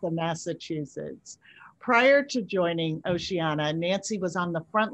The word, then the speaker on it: Oceana: lead campaign organizer for ocean anna i always want to add some syllables to oceana in the commonwealth of massachusetts prior to joining oceana nancy was on the